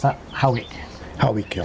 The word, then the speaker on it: Howick: You pronounce that Howick. Howick, yeah. So we have one in Scotland, spelt the same, but it's pronounced Hoik. Hoik.